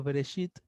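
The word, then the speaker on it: בראשית: Entonces la expresión en el principio o en el origen se pronuncia en el hebreo Bereshit.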